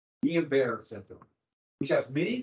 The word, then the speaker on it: Guillain-Barré: I put it up here because I always mispronounce it, but it's Guillain-Barré syndrome, which has many of the same symptoms, and so we very well could have had that.